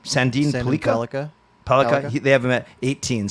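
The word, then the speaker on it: Sandin-Pellikka: I was just going to say Sandin Pellikka was not taken out for dinner by the Canucks, reportedly.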